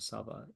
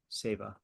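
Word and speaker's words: שיבה: Say, how do you say seva? Not sava. Say seva.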